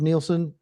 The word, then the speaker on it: Nilson: Yeah, it's Nilson because the letter I is pronounced E in Spanish.